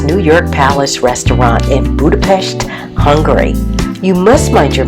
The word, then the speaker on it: Budapest: Greetings, Success with Etiquette here in Budapest, Hungary, and it's pronounced Budapest.